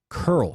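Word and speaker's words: Köln: you're gonna make a curl spear out there make it taste like curls because there's only one place in the world it comes from that is Cologne Germany because Cologne and German is curl and curl SH means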